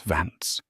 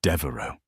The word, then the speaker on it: Devo: It's not Vance, it's Devo."